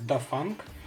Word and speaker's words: Dafang: p камеру от производителя до фанк может быть а немножко неправильно его произношу ну как то так он звучит которая также влился в дружную